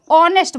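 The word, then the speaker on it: honest: से हो रहा है लेकिन एस साइलेंट होने की वजह से इसका जो प्रोनाउंसिएशन है उसको प्रोनाउंस किया जाता है ओ से, तो ऑनेस्ट बोला जाता है ना, तो इसमें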